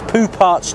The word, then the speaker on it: Poupart's: and i've come to the fabulously named poo parch junction in south london spelled like that believe it or not it was named